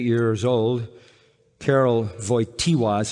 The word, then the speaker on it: Karol Wojtyła: After the death of his mother, when he was 8 years old, Karol Wojtyła is how you say his name, the Pope that died.